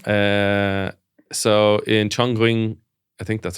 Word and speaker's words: Chongqing: Uh so in Chonging, I think that's how you say it. Chongqing in China, every Friday and Saturday morning, hundreds